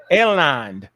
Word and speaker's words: alanine: It says in each case, the left hand species changes from the alanine. Am I saying it right? Alanine, you good. Alanine, the A, right?